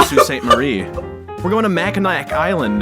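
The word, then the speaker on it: Sault Ste. Marie: yeah we're going to they're going to Salt St Mary and I'm like no no no you're going to S St Marie we're going to maak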